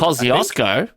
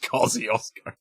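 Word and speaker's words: Kościuszko: That's definitely a Polish word, and it's definitely not pronounced Kosciuszko. And yet that's what we call it.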